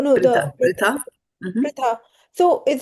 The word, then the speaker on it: Pṛthā: Mataji, in earlier verse, where you corrected the pronunciation for the Pṛthā. Fiery. No, Pṛthā.